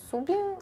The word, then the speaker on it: KSUBI: Але сьогодні ми зібрались знову, щоб поговорити про австралійський бренд Кубі. До речі, правильна вимова бренду - це Су, але ми люди прості, тому вимовляємо, як бачимо.